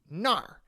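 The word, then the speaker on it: 那儿: from the first word r doesn't really when it's a suffix like this it doesn't have its own syllable it combines with the previous syllable and sort of changes how it sounds so na changes to nar and in this case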